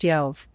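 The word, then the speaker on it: Ἰώβ: using the letter B, just like there is no reason to transliterate iota omega beta as job, when it is pronounced Yov.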